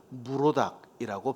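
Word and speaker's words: מְרֹדָךְ: 이 마르둑을 히브리어로 발음을 하면 무로닥이라고 발음을 합니다.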